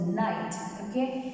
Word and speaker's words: knight: Don't forget, this K is silent, so Knight, So he became the Knight.